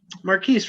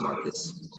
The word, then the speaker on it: Marcus: Marquise, right? Let me know if I'm saying that correctly. I take great pride knowing how to pronounce the names of all our diverse candidates I come across. It's just Marcus.